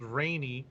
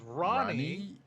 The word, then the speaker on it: Rahney: And it's spelled Rahney. So for the rest of us who didn't realize that it was pronounced Rainy, right, I read that as Ronnie.